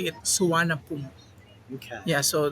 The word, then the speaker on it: Suvarnabhumi: but in Thailand they say it Suvarnabhumi. Okay. Yeah, so they have silent letters when they say the word exactly by their local dialect instead of reading it in English.